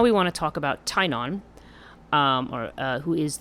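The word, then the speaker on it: Teyrnon: want to talk about tainan um or uh who is the um or tyrannon i think is how you say his name so the her child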